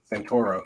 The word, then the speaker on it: Santoro: is Shane Santoro Santorum Santoro Santoro okay yes like Toro so you call him